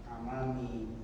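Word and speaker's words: أعمام: Tapi berikutnya Amami ujarun kibarun. Hasan, terjem. Apakah Ini bukan hamzah istifham. Ya. A'mam. berarti amam tadi bacanya sebenarnya.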